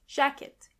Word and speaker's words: Jacke: Jacke is jacket. And this is where you can see that the letter J is pronounced as Y. Jacke.